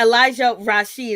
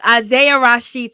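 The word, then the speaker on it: Isaiah Rashad: with this situation okay elijah rasheed i think that's his name no it's isaiah rasheed i knew i was saying his name wrong wrong isaiah rashid so is isaiah rasheed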